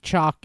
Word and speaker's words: Chalk: You pronounce the L. It's not L. It's chalk, not chalk. It's chalk. Just like you write on the blackboard.